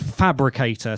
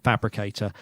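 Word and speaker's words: Phabricator: So I followed the link and it went to a system called Fabricator, spelled with a PH, which looks a bit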